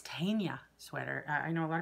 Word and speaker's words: Tegna: I really want to knit the Caitlin Hunter pattern, I think it's Tegna sweater. I know a lot of people call it Tegna. It's spelled T-E-G-N-A, but I believe it's pronounced Tegna.